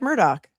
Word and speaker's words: Murdaugh: Mimon Nancy says, "Alec Murdoch says he says it like Murdoch."